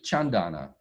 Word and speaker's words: Chandana: if i do it correctly so i say chandana yeah fitzgerald okay john donna um is so she is she's a medical